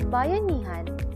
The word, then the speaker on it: Bayanihan: Pronounced like Bayanihan, Bayanihan is a Filipino word derived from the word bayan, meaning town, nation, or community in general.